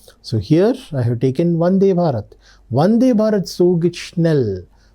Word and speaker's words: Vande Bharat: So should we pronounce it as F sound or as V sound? Now Vande Bharat is not a German word. It is an Indian word. In Indian language, we say it as whatever, Telugu, Hindi, whatever the language is, we say it as Vande Va. So that's how Vande Bharat. That is the pronunciation of that particular word.